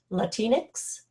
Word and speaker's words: Latinx: hispanics or i guess the new term is latinx did i pronounce that correct amy that's an x yes